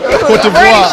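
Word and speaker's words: Côte d'Ivoire: He said pronounced it right. He said it right. Say that shit again, my nigga. Cote d'Ivoire.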